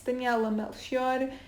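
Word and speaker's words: Daniela Melchior: queen this also stars daniella melchione and that's how i pronounce it i've seen a ton of people pronouncing her name wrong uh so yeah it's daniella melchior and she's portuguese just like me actually we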